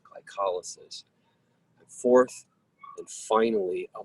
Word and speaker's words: glycolysis: It looks like glycolysis, but it's pronounced glycolysis.